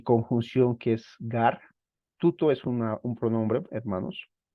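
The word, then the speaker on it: τοῦτο: veamos acá hermanos Miren la palabra tuto aunque se escribe Tao pero se debe leer tuto tiene un acento circunflejo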